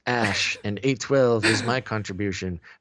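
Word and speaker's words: Æ: She's great at names, Musk said, adding, it's just X, the letter X, and then A-E is pronounced Ash, and A12 is my contribution, which he says stands for Archangel 12.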